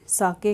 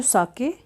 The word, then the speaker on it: sake: Pronounce कैसे करना है, SAKE एस ए को आपने प्रोनाउंस करना है जैसे फादर में हम एफ ए को करते हैं, यानी फा और सा, तो ये सा हो गया। और के ई को हमने कैसे प्रोनाउंस करना है, जैसे हम वे बोलते हैं, तो ये बन गया सा के।